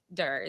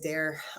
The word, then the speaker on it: Tiff Durr: So who is Tiff Durr? That's how you pronounce it, Durr? It is. It is. Wow. Yeah, sometimes people say dare or dear.